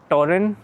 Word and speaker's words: Torin: uh my new road running shoes, the Ultra Torin is how they pronounce it.